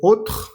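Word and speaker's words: autre: Entonces, cuando veas la a y la u, igual vas a decir o. Algunos ejemplos son, por ejemplo, ot, la palabra ot que significa otro.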